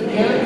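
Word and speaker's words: ἐν: And one sounds like our English word in, it's E-N, pronounced in.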